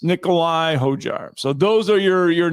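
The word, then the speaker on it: Nicolai Højgaard: I got to remember the D is silent in the name. But um yes, Nicole. Yes, it's Nikolai Hojar.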